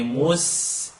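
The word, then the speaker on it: مستقيم: Say mustaqim. It's not keem, like a key, but right behind that.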